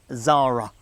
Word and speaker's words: Xsara: new midsize family hatchback the Zara spelt XS A R A that's how it's spelled but you say it Zara and man to tell